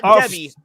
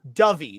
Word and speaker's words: Dovey: Like, no, not Debbie, Dovey, Dovie, like the bird, but with a E sound at the end, Dovey.